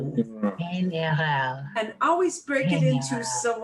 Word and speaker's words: general: You hear this word a lot because people will say, well, you know, in general.